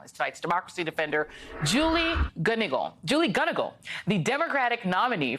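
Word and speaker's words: Gunnigle: And I want to start by making sure I pronounced your name correctly. Is it Gunigal?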